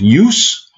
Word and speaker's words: use: Вообще, вот это вот произносится по-разному. То есть use.